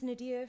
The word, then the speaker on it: Nadiyah: meat of the conversation my name's nadia for you know people who don't know it's phonetically spelled it's n-a-d-i-y-a-h i don't know why